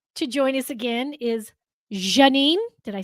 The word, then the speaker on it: Zsanine: yeah, and it's Zsanine. Ja. Ja, Ja. Like Zsa Zsa Gabor, like Janine.